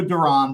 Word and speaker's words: Duran: I'm going to go Duran because I heard him say it, and I'm going to honor that pronunciation for now.